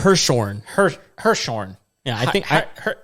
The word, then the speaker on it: Hirschhorn: Hirschhorn.